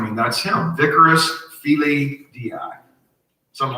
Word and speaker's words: Dei: Okay, if you do the gematria on Vicarius Filii Dei, D-E-I, but pronounced Dei.